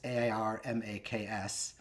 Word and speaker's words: AirMaks: It's AirMaks.